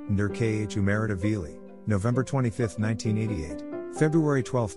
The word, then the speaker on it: Nodar Kumaritashvili: nadar kumaritashvili georgian pronounced nur khumeritaveli november 25th 1988 february 12 2010 was a